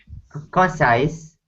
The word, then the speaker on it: concise: Concise gets to the point quickly. Good. And the syllable stress here is on the second syllable.